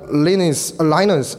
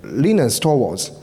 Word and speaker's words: Linus Torvalds: and we want to see their solutions so Lanie's aligners oh sorry I should pronounce the edge leanest or walls he is a founder of he's a father